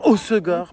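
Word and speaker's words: Hossegor: Osegor pardon. Apparemment on le prononce mal et les gens sont surx.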